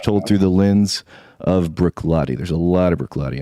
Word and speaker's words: Bruichladdich: It's worth staying up for to come on be on the show, you guys, and cracking pronunciation of Bruichladdich there as well.